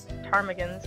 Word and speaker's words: ptarmigan: I think it might have been ptarmigans, yeah. The P is silent.